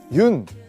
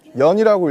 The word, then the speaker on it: 윤: 여기 보시면 흙이 있는데요 많은 분들이 아마 그 윤 이제 윤이라고 읽거든요 연이라고 읽으실 수도 있고 뭐 여러가지 방법으로 읽을 수 있는데 그 윤형근 화백 님의